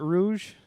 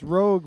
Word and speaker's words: Rogue: How do you pronounce that? Rouge? No, it's Rogue Revolutionary Blend Cold Brew IPA.